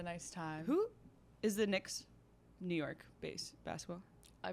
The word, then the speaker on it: Knicks: too close of names also why do the Knicks have a silent k you know who I